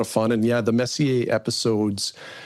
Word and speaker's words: Messier: what the heck is Messier? What are we talking about? For hockey fans, it's like Mark Messier, that's the way it's spelled.